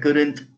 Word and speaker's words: couldn't: Como usted lo pronuncie, el couldn't, después que se oiga bien bonito el couldn't, que se oiga esa T, el couldn't, la otra persona te va a entender clarito.